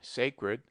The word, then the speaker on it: sacred: We pronounce sacred with A long, sacred, but the derivations are properly pronounced with A short, sacrament, sacrifice.